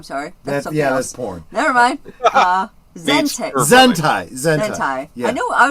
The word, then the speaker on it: Zentai: Zentai. Zentai. Yeah. I know. I was close. Yeah. It rhymes. Zentai and hentai.